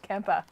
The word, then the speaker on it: Kemper: oh okay all right it is and it's pronounced Kempa yes the camper we get out my phone